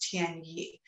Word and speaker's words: Tian Yi: It's pronounced Tian Yi.